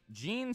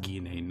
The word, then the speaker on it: Gine: Actually, her name's pronounced Gine. I mean, I can understand how someone could get that just by reading it, but it's actually pronounced Gine.